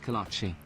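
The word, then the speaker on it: kolache: Kolachi. He did pronounce it right. At least the Texas way of saying Kolachi.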